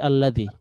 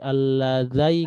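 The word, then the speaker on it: الذي: Pasti bacanya pasti alladzi ya, nggak ada alladzi, alladzai, nggak ada.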